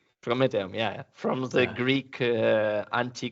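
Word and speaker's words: promethium: with the pro metal it was it is pronounced prometheum prometheum yeah from the Greek anti- Greek Fair tals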